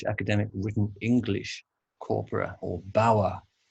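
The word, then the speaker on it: BAWE: Written English Corpora, or BAWA, not to be pronounced BOR, which would be a terrible acronym.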